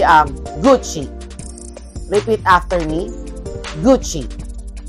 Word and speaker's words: Gucci: Repeat after me, Gucci. Ang spelling ng Gucci is G-U-C-C-I, but pag binasa mo siya, parang maikli lang yung U, tapos Chi, C-H-I. Gucci, not Gucci, hindi ganon.